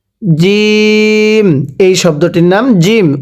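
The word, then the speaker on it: جيم: জিম, এই শব্দটির নাম জিম। উচ্চারণের সময় আমরা শক্ত করে আওয়াজ দিয়ে পড়ব, পড়ুন জিম।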